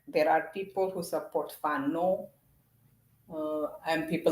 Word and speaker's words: Fano: my family, they support Fano. Not the way I say it is almost like a Farangi, a white person. Fano. That's not how you say it. You say Fano.